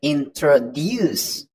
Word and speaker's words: introduce: out loud for example the word introduce is pronounced with a stress at the end so it sounds like introduce sometimes where you put